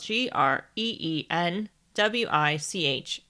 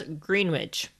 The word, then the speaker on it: Greenwich: observatory in greenwich just a side note greenwich is spelled g-r-e-e-n-w-i-c-h and many foreigners including americans pronounce it as greenwich but it is actually pronounced as greenwich anyways